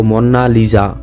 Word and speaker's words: Mona Lisa: কোন ছবির জন্য হয়নি মোনালিসা একটি ইতালিয়ান ভাষা যার উচ্চারণ হলো মন্না লিজা যার অর্থ মাই লেডি